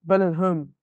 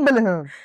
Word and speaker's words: Bellingham: in B Belling bellam is it Bellingham Belling Bellingham Bellingham yes but are we saying it right are we saying it right Belling Belling yeah I'm saying what she saying place the place not bellam yeah Bellingham Bellingham Cal